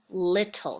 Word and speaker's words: little: Not really one we can sound out, but let's see. L-it. Ol, and the E is silent. It's a silent E. So you can kind of stretch that one out. L-it, ol, and then we don't make the sound for the E.